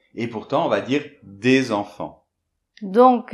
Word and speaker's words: des enfants: H muet et bien on va prononcer cette consonne finale qui normalement est muette. Bon le mieux c'est tout de suite donner un exemple. Par exemple des enfants.